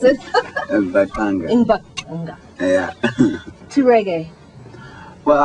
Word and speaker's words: Mbaqanga: So, Lucky, when did you decide to change from Zulu Mbwanga, is that how you pronounce it? Mbaqanga.